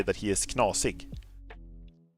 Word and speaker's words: knasig: If someone is a little weird, you can say that he is knasig. Knosig. It's I'm gonna spell it for you.